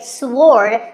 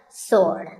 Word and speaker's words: sword: what about this word sword many people say sword but that is totally wrong it's just sword and here's one last word with silent letters